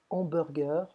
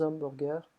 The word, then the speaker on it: hamburgers: On ne prononce pas le H en français, donc on va dire de bons hamburgers, de bons hamburgers.